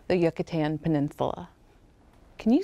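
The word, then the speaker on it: Yucatán: what's now called the yucatan peninsula can you say yucatan peninsula with me yucatan peninsula how many syllables does yucatan have yuck a tan yuccatan that's a funny word isn't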